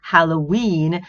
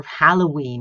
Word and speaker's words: Halloween: quarantine sorry arbitrary hierarchy but Halloween right British English goes for Halloween whereas American English goes for Halloween right and I think